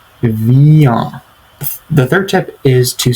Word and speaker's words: viens: viens, but it's pronounced viens. Viens. And notice how the ah sound is nasalized. You have to make it a nasal sound for the pronunciation to be correct. So it's viens.